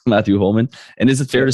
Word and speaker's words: Matthew Holman: pronouncing everything okay there's nothing uh funny about the way you pronounce your name it's just matthew holman and is it fair